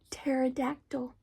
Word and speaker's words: pterodactyl: t-t terod what happened the P PP is silent you don't hear it it's a t pterodactyl it's a tricky word